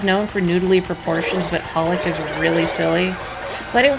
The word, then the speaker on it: Holic: a satisfying conclusion, is Holic by Clamp. Yeah, I know it's written XXX Holic, but you don't pronounce those. It's just Holic, apparently.